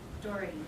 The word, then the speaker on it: Daugherty: Doherty. Like a door with a T on the end. Doherty, thank you, I'm sorry.